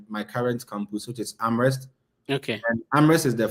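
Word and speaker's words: Amherst: My current school is University of Massachusetts Amrest. Yeah. Yeah. Um you you need to pronounce it well. Other than that people will butcher that name.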